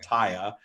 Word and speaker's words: TYA: call the taya practice tya stands for trust for abundance and we pronounce it taya and it's it's it's